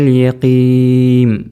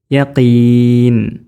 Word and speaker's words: يقين: ചിലപ്പോൾ കുട്ടികൾ ഇൽമൽ യഖീം ചുണ്ട് പൂട്ടി വേളി അവിടെ മീമായി മാറി, പിന്നെ നൂനാവില്ല, അവിടെ ഉച്ചാരണത്തിൽ മീമ പിന്നെ വരിക. ഇൽമൽ യഖീം എന്നല്ല യഖീൻ, ചുണ്ട് പൂട്ടരുത്.